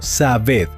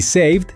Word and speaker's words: saved: El error número uno de los estudiantes es leer cada letra y decir quised o sabed. Prohibido. En inglés esa e suele ser muda o muy suave. Kissed suena casi como si terminara en T. Y saved termina con el sonido de la D o v suave. Saved.